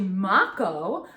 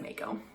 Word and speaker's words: mako: So Riley informed us that Makos it's actually Mako, and it's a Maori name that was given to them.